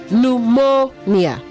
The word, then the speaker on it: pneumonia: Pneumonia, not pneumonia. Pneumonia. Okay, pneumonia. The stress is on the second syllable.